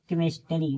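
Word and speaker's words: chemistry: जैसे देखिए सी एच ई एम आई एस ई आर वाई केमिस्ट्री। देखिए सी एच के बाद ई दिया है तो क पढ़ा जा रहा है केमिस्ट्री देखिए सी एच ई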